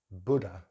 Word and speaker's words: Buddha: This word in British English is Buddha, Buddha, Buddha. So we just have the schwa at the end.